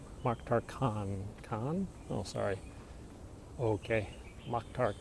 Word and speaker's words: Khan: There's a A in Kane, pronounced like in car. Mokhtar Khan. Khan? Oh, sorry. Okay. Mokhtar Khan. Is that better? Kane?